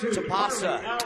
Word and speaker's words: Tapasa: It's Tapasa. Tapasa. Her first name. I call her Taps because it's easy. Her dad I know really well. Tapasa, I believe is how you say it, but we just call it Tapasa.